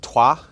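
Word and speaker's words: Troyes: born in uh in twah which is spelled t r o y s but somehow the French pronounced it TWA uh in the year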